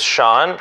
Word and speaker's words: Shawn: My name is Sean, which rhymes with yawn, which is what you won't do when we go on a date, because I'm not boring.